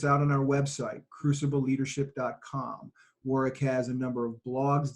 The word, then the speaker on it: Warwick: And Warwick spells his name, as I always say, with a silent W in the middle.